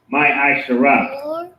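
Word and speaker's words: מעשר: Means 10th in Hebrew, and it's pronounced my Asherah.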